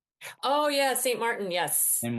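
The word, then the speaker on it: Saint Martin: with uh on I don't know how to pronounce the island scene Martin. Oh yeah. St. Martin.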